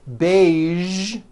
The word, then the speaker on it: beige: television very good now there are only a few words that have the voiced sound at the end a few of these words are the color beige the word massage and the word prestige okay now that you